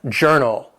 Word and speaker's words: journal: Number 14, journal. It has 2 syllables and the stress is on that first syllable.